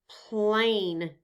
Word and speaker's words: plain: There is an A followed by a consonant followed by a silent E. The silent E lets us know the A says its name. So what sound does this A make? A, that's correct. Let's sound out the word together. P-L-A-N. Plain. The E is silent.